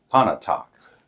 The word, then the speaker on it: Pontotoc: Pontotoc now it's ponte ponte talks it has a tee in it but it's that T is silent so that that's the